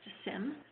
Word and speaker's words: SIEM: The security management segment, as I think I mentioned before, for us contains security, identity, and event management, or SIEM, S-I-E-M, pronounced SIM by many of us, as well as GRC, governance, risk, and compliance.